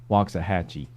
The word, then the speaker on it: Waxahachie: Somebody wants to know how you say Waxahachie. I just said it. spell it with a W-O-X. W-O-X. Yeah. Wax. Hooked on phonics.